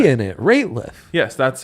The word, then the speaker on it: Rateliff: Rateliff, not Nathaniel Radcliffe or whatever the You Harry put a Potter T guy. in it. Rateliff.